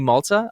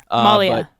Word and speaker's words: Malia: And then I also bought Lee Malta. I hope I'm pronouncing that right. I don't think I am. Malia. Lee Malia. Lee Malia, thank you.